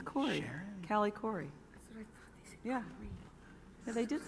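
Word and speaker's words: Khouri: and gentlemen please join me in welcoming cali curry and paul antonacio that's that's the latest and most original pronunciation of my last name i've heard in a long time it's it's it's cool it's corny cali cory yeah they did say that it was the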